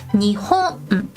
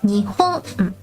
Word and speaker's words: 日本: When we say Japan in Japanese, we say Nihon. The middle letter goes up a little bit. Nihon. But for this one, when we count thin, long objects, we say Nihon.